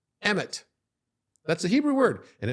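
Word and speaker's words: אמת: Mem is like this water, but together Aleph Mem Tav is pronounced emet.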